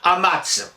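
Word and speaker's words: amaz: Et on va dire amats, notamment au Moyen-Âge. Et pour orthographier ce amats, comme c'est un tse, on va utiliser naturellement le z.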